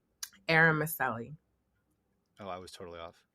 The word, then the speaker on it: Eromosele: you should have let me how do you pronounce your last name eram Meli oh I was totally off yeah I mean